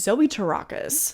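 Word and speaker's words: Zoe Terakis: The other, and probably my second favorite performance from the movie, is Zoe Tarakis, which that is how you pronounce their name according to Google, so don't come for me.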